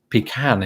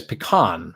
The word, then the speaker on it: pecan: I mean, I think pecan. How do you say it, wife? I think growing up I said pecan. Yes. But more often than not now I say pecan or somewhere right in between.